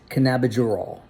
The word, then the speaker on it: cannabigerol: and by the way I think I mispronounced it my bad it's it's cannabidural